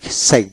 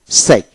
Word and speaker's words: psych: যেমন সাইক বয় পায়দা SPSYCH সাইক এখানে পি উচ্চারণ হবে না।